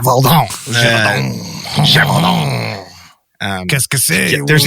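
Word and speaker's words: Gévaudan: The Beast of Gevaudan is a cryptid. Or, you gotta say it. You gotta throw on the accent every time. Gevaudan.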